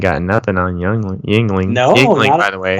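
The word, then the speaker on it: Yuengling: No, Yingling, by the way. It's pronounced Sorry.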